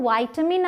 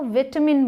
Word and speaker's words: vitamin: इसकी दो प्रोनाउंसिएशंस हैं, बट विटामिन नहीं है इसकी प्रोनाउंसिएशन। या तो वाइटामिन आप बोलें या तो विटामिन बोलें। वाइटामिन है US मतलब अमेरिकन इंग्लिश में वाइटामिन एंड ब्रिटिश में विटामिन।